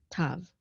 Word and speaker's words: tav: And anciently, when the tav did not have the dot in it, you would pronounce it as a th sound. Th, thou was actually how you'd pronounce that in ancient Hebrew. But in modern Hebrew, with or without the dagesh, you're just going to say t, tav.